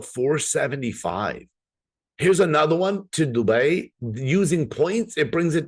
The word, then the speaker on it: Dubai: you're cringing because you want to correct me on Dubai I know you say it differently I promise you that's the way it's said it's an word people